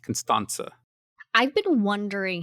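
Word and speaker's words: Constanta: her name is pronounced constans I've been wondering how to pronounce it this whole time it's not a hard te I believe it is taken from the Romanian spelling and the Romanian alphabet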